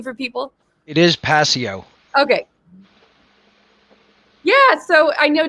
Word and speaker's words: Passio: it's a pleasure to be here absolutely the pronunciation of your last name for people it is passio okay yeah so i know david wants to